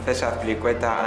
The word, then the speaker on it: César Azpilicueta: Hi, I'm César Azpilicueta and this is the game Say My Name.